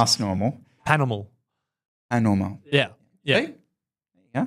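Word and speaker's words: Pas Normal: It's not, you don't not pronounce the A, you don't pronounce the S. Correct. Yeah. Yeah. Yes. So it's not ass normal. It's not ass normal. Panormal.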